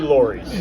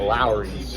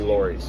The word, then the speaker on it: Lawry's: sounds more Regal right and it should be Lori's yeah and there was a the law is that there was a radio announcer in the 60s that mispronounced it on air and pronounced it as a Lowry's yeah where in reality it should be Lori's